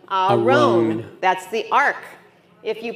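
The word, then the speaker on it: ארון: This is a r sound with an o, so a roan. Aron.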